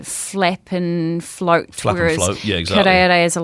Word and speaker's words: karearea: I know the karearea, the falcon, New Zealand falcon.